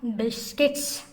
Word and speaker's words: biscuits: look at the spelling of biscuits many students pronounce ate biscuits they are not miss course they are biscuits based it's based skiffs this you remain silent